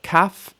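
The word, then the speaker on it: כָּף: So we have kaf and chaf, making the k and ch sounds.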